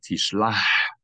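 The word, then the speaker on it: תשלח: yet, as a Ha, Tishlah, you can hear it. Tishlah. If you're not yet able to do that, in this case, it's better to mispronounce it as a Chaf than as a regular H, but only when it's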